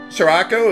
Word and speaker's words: Scirocco: think for some reason Scirocco is pronounced with a ship at the beginning of its pronunciation for some reason least